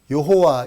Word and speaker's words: 여호와: 절대자다 자 그런 뜻인데 그분의 이름이 히브리서 발음으로 야회 또는 우리 식으로 쉽게 여호와 이렇게 발음하는 겁니다 이름입니다 제가 딴 분들이